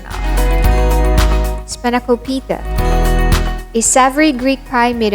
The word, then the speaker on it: spanakopita: On first encounter, people would pronounce this as Spanakopita, but it's Spanakopita. We stress on the third syllable, Spanakopita.